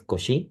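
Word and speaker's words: Cauchy: que se llama eh principio de cochi si no me equivoco el en la pronunciación creo que es kosi porque era francés y entonces eh kosi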